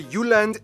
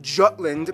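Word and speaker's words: Jylland: so here we go denmark is made of the uland not jutland peninsula that connects to germany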